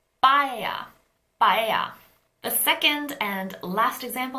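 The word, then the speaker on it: paella: all let's look at the Spanish dish bhaiya it starts with a pea but it's not an aspirated P we don't say pea if we try all three bilabial stops in Korean it's not pie it's not pie but it's byah byah the second and last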